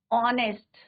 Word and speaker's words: honest: एन ऑनेस्ट, पर spelling क्या होती है बच्चों, HONEST। एच क्या है यहाँ पे, साइलेंट।